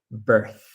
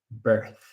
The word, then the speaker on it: birth: Again, it has that th sound at the end. So, we pronounce birth. Birth.